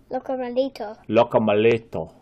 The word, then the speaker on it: Locomelito: Can you say it like that? Locomelito. Not tomato, Melito.